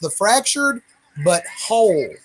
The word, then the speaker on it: The Fractured But Whole: Well, it's actually pronounced the fractured but whole, you know, because it's like a civil war.